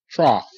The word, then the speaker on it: trough: but that's cough good trough TR a TR trough okay here again GH is not silent the GH is making the F sound f- F okay